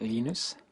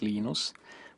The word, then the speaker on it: Linus: lenus or Linus what's the exact your preferred pronunciation um when I speak Swedish it's lus when I speak Finnish it's lenus when I speak English it's lonus and I really don't care how people pronounce